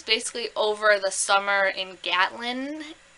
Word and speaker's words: Gatlin: But it takes place basically over the summer in Gatlin, right? That's how you pronounce it.